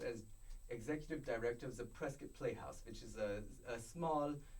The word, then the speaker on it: Prescott: Prescott yeah uh or do you pronounce it Prescott Prescott yeah it's pronounced president guys so you basically